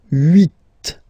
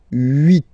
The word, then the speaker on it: huit: Okay, then here final T is pronounced, so huit, huit. Remember in French this H letter here, okay, doesn't exist phonetically, so we don't really pronounce it, okay, so if you